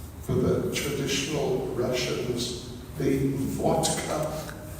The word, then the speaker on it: vodka: The wine for the traditional Russians the vodka. They don't pronounce it vodka. They pronounce it vodka.